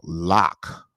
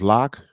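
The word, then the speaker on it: Lak: day and i think his proper pronunciation that he uses for his name is lock but it's spelt l-a-k but he didn't correct me because he was very professional but uh this is lock and capone and this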